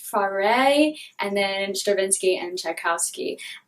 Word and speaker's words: Fauré: It's set in 3 parts: emeralds, rubies, and diamonds, with music by, I think it's pronounced Fauré, and then Stravinsky and Tchaikovsky.